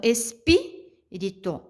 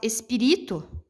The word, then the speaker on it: espírito: Então, como tem o acento aqui no pi, automaticamente a sílaba tônica dessa palavrinha é o pi. Ah, professora, mas eu não acho. Uma que é a regrinha básica, tendo o acento é a sílaba mais forte. Mas se eu fosse querer questionar aqui, pense se eu falasse espírito, não ficaria legal, né? Eu transformar o ri na sílaba tônica, né?